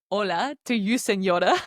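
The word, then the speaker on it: señor: Seenor and senor is spelled with the n that we just spoke about.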